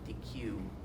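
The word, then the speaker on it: Deque: out by a company called dq and that's spelled d-e-q-u-e and it's available uh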